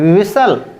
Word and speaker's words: whistle: Right होता है विसल, विसल, इसका मतलब होता है सीटी मारना।